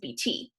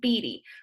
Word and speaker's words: Beatty: It's not Mrs. BT, right? I say Mrs. Beatty. So it's that second to last syllable.